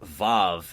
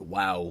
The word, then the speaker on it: Vav: I don't remember if it was during Chessed's recording or if I even have it anywhere, though, but apparently it's pronounced Vav, not Wow, which just makes a hell of a lot more sense.